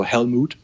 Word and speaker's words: HELLMOOD: It's spelled HELLMOOD, so Helmut.